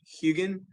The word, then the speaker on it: Hugin: that's awesome and i think the formation is pronounced hugin the huge formation um and it's a sandstone